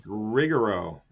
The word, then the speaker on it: Rigero: And with me today is Rich Bomb, one of the founders of Regger Rigger. You pronounce it Rich. I can't. It's Rigoro. Rigaro.